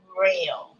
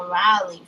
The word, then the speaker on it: Rell: So they do say rail. So they call you rail for short. But it could like be spelled RELL.